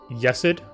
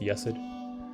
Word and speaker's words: Chesed: Another one is a person named Yesid. No surname. FY, it is spelled differently than you hear, so it's actually Chesed. So it's spelled as Chesed, but their name is pronounced Yesid.